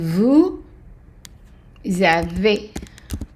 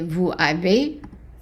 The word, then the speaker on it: vous avez: And the easy at the end of any word in French is pronounced A. And whenever you have an A sound at the end of a word in the French from France, which is also the Francophone countries in Africa, pronounce them similar to France, you would have easy as an A. You don't elongate it.